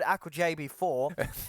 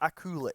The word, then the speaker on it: Akulich: See, I say old Aku JB4, but I know that the correct You know I it. know the correct pronunciation is old Akulich.